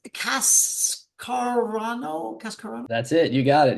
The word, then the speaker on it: Cascarano: Cascarano. That's it. You got it. Yeah. Just uh good good Italian name. So, just just like it's spelled just like it sounds.